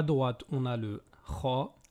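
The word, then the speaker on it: خ: Pour le kha, l'air circule librement, tandis que pour le ra, l'air reste bloqué pour une bonne partie au niveau de la gorge.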